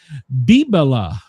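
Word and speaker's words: bibelot: It is bibila. Bibila. Do you know what? Yeah. Bib bala. Bibila. It's spelled bot, but it's bibila.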